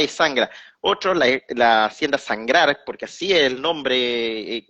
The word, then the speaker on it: Sangrar: Y él dice, y le corrige, dice, la hacienda de mi padre es sangrar, con acento en la A, así como habla que es palabra llana, pero si quisiéramos español, escribirlo en español, porque es una palabra indígena, Es sería con Sangrar, acento en la A, sangrar, y con Sangrar, R al mira, final.